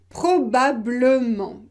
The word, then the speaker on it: probablement: bien c'est logique parce que regarder ce mot probablement probablement imaginez que vous ne prononcez pas le eu probablement probablement c'est impossible